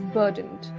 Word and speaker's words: burdened: Another vocabulary you can use is burdened. Similar words you can use are weighed down, overload, etc. Let's get the pronunciation right. Burdened. The letter R is not stressed.